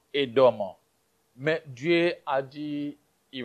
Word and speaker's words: Édom: En hébreu, on dit Adam. Ou en français, nous disons Édom.